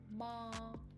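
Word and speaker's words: 妈: I say it with the first tone ma, it means mother. And if I say ma, if I say it with the third tone ma, it means horse.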